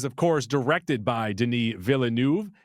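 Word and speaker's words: Villeneuve: course directed by Deni villanu it's villanu right he I I believe I did watch him pronounce it recently and then unsung hero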